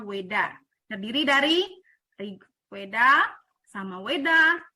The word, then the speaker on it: Veda: Hindu yaitu veda ya tulisannya veda tapi dibacanya Weda terdiri dari Weda sama